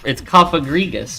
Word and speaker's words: Cofagrigus: That's how you pronounce that. That's how you. It's Cofagrigus, right?